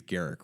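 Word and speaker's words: Garruk: which one of those the official pronunciation I think it's Garrick right I think it is Garrick Garret canula carries companion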